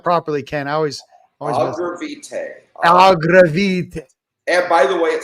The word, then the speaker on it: Agravitae: Agravitae.